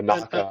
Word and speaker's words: Anocca: how do you pronounce A Anocca, which knock, is where a knocker. Yeah, correct.